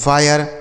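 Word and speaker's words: fire: तो आई के बाद अगर RE हो तो आई का उच्चारण आय हो जाता है, जैसे फायर, higher, वायर, tyre, inspire, मायर।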